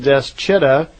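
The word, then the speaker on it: Dschidda: between some city called Deschida at the Red Sea, and I'm probably not pronouncing that correctly. It's spelled D-S-C-H-I-D-D-A, right between this city and the town, the Islam town called Mecca.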